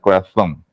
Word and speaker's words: corazón: Aún así sabiendo que el sonido de Z es interdental, corazón.